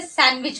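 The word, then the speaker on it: sandwich: और देख लेते हैं जैसे है सैंडविच तो हम इसे सैंडविच नहीं पढ़ते सैंडविच पढ़ते हैं यहां पर भी डी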